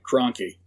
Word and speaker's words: Krahnke: We got your name wrong in our previous episode. Your name is Krahnke. Krahnke.